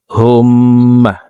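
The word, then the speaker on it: اللهم: তো হুমমা এভাবে পড়তে হবে। আল্লাহুম্মা আতা রব্বি লা ইলাহা লা এখানে চার আলিফ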